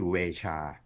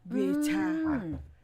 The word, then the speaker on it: VEJA: ฝรั่งเศส นะ ครับ อ่า ชื่อ เ สะกด ว่า v e j a นะ ฮะ ซึ่ง ถ้า อ่าน เป็น ภาษา ฝรั่งเศส ต้น ตำรับ เนี่ย เขา จะ ออก เสียง ตัว เจ เป็น ช ช้าง นะ ฮะ คล้าย ๆ อย่าง งั้น ก็ ชื่อ เวชา เวชา อ่าน แบบ ฝรั่งเศส นะ ครับ แต่ ถ้า คน ฝรั่ง